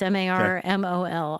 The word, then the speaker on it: Marmol: I mean, it was actually the manager, Oliver Marmol. Is that how you say his name? I don't know enough about him to know. It's Marmol. Oliver Marmol.